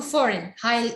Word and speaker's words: foreign: Two foreign. This G is silent.